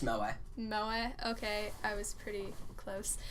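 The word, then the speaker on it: moe: to not be too over MOA or Mo or whatever however you say it or it's pronounced mo mo okay I was pretty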